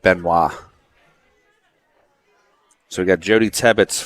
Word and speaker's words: Benoit: Benoit is Benoit, right? Yep. She pronounces it Benoit.